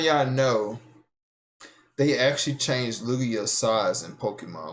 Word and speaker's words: Lugia: The G is silent. It's pronounced Lugia.